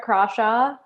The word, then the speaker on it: Crawshaw: So I'm Crawshaw. Yes, you pronounce it with a hard C.